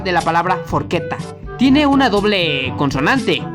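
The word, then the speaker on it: forchetta: forqueta que significa tenedor la chela sucede una e Por lo cual tendrá sonido de una letra k forqueta no se dice forcheta Sí ya sé no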